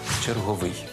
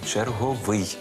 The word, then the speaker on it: черговий: щойно назвав працівника метрополітену черговий запам'ятайте у будь-якому значенні тільки черговий а не черговий взагалі українські словники не знають слова черговий Отже запам'ятовуємо випадок зручний